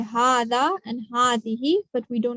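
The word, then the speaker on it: هذه: And just like Hada, it's pronounced with an alif, Hazihi, but we don't write the alif, okay? Just like Hada. So we say Hada and Hazihi, but we do not write any alif here.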